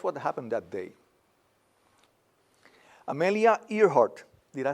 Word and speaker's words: Earhart: Amelia Earhart, did I say it right? Earhart or Earhart?